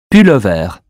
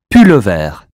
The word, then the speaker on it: pullover: Pullover. U or OU? U as in hue. Pullover.